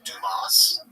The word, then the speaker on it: Dumas: This is Dumas. That's how you pronounce his last name.